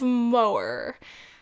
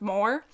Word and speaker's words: Moher: I always just want to say Cliffs of Moher, but I think you're supposed to exaggerate the H a little bit.